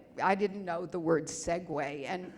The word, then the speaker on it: segue: Now, we did not have music in my, we didn't have I didn't know the word segue, and if it's called segue, why isn't it spelled like that machine?